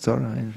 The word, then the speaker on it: Thoreau: Thoreau. I guess in French it would be pronounced Thoreau, but once it got into English it became Thoreau.